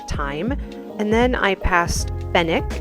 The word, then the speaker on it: Fenwick: And then I passed Fenwick. Apparently the W is silent, and just thought this whole like unquiet luxury display was hilarious.